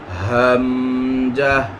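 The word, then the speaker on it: ء: আকারে শিখার চেষ্টা করব এক নাম্বার মাখরাজ হালকের শুরু হইতে অর্থাৎ এইটা এই নিচের জায়গাটাকে এক নাম্বার ধরা হয়েছে হালকের শুরু হইতে উচ্চারিত হয় যথা হামজাহ হামজাহ হামজাহ হা এই নিয়মে আমরা যদি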